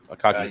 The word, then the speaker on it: Akagi: I can't, with enough reliability, I can see the scene, but I'll probably pronounce the name wrong. No, pass. Omnicast. What is Akagi? Akagi? I think I'm saying it wrong. Akagi.